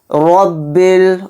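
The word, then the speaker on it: رَبِّ: बारीक पढ़ेंगे लिल्लाहि रब्बिल रब्बिल र के ऊपर जबर है र को मोटा पढ़ेंगे आलमीन आईन पर खड़ा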